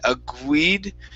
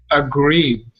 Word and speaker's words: agreed: aguer agreed agreed okay give me a gr instead of a gu you said agued instead of a guide it's g greed agree agreed there you go that's